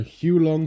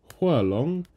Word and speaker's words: Huo Long: hulong heater or the huo long heater it is pronounced Hua long okay right you don't have to call it you don't have to bother with the tones you don't have to